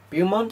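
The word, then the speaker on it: Beaumont: Charles bont Bo yeah bont I think it's is how you pronounce his name b e u a m o n t how chose to pronounce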